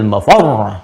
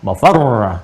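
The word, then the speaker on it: المفر: insanu yawma idzin ainal mafar. Mafar ada tasdidnya tuh. Ya, ainal mafar. Ada tasdidnya, makanya bacanya juga bukan mafar. Awas. Ya, bukan mafar.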